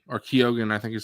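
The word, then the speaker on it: Keoghan: Barry Keegan or Kogan I think is how you pronounce his name.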